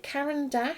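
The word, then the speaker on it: Caran d'Ache: pronounce it I think you pronounce it like the name Karen and then - is in I'm dashing off somewhere yeah I am I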